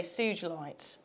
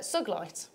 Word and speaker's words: sugilite: also got now it's I would normally say sugilite because it should be a soft G but because it's named after a certain person it's it's uh suglite oh okay that's interesting